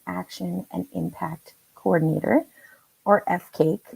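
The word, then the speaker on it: FCAIC: and impact coordinator or f cake pronounced like cake and yes that means that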